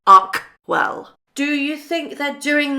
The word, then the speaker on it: Archewell: Sorry, I have to pronounce it correctly. Archewell.